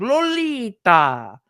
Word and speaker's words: Lolita: So he's like Lolita, like the ta was with an H at the end.